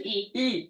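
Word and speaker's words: Ii: We have the old town of, please help me pronounce this. Rahe. Yeah, Rahe. And then there's Ivanna. Ivanna. Just E.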